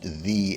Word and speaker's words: ye: Um and you may want to point out in the comments that ye would actually be pronounced the in that case.